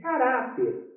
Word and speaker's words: caráter: Qual é a sílaba mais forte? É o urá, caráter.